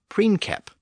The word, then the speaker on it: princeps: keep in mind that the letter C was always pronounced as a K in Latin. So in Latin, the word was pronounced as princeps.